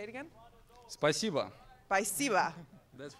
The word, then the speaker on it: спасибо: Спасибо.